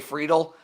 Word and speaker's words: Friedl: hitting outfielder uh yeah freidal uh DJ friedl uh you said it right there and they had